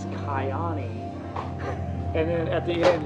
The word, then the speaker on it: Kyani: Another thing I wanted to laugh about, you were like, at the very beginning, you go, I learned how to pronounce this, Kiani.